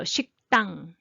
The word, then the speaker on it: 식당: So 식당. That's okay. So 식당 . You don't have to try hard to make soft ㄷ sound 식당 so 식당 is natural.